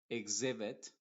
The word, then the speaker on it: exhibit: en algunos otros casos cuando una x está entre dos vocales va a funcionar como una x modificada por ejemplo vamos a decir exist exotic Exhibit exale exalt y en